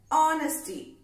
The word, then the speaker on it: Honesty: H-O-N-E-S-T-Y. It is pronounced as Honesty. Okay. H is silent there.